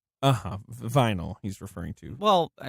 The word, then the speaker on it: Vinyl: Well, and I'll say, a lot of the crew that worked on the television series Vanille, HBO's Vanille, Vinyl. He's referring to. Well, I mean, sure, you would pronounce it like that.